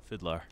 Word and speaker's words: FIDLAR: your fans wouldn't know my name is pronounced fidlar fidlar well there you go